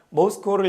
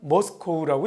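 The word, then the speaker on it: Moscow: 모스크바를 향해서 내일 떠납니다라는 얘기고 이거 러시아 말로 읽으면 모스크바, 영어로 읽으면 모스코우라고 읽습니다.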